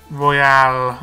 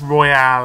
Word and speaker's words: Royale: this pack the Royal Royale even I I said it's Royal but it's Royale isn't it I'm a